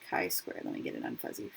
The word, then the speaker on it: chi squared: him this x squared value okay he is pronounced chi squared let me get it unfussy for you so